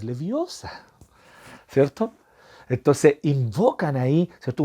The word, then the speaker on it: Leviosa: No es Leviosa, es Leviosa.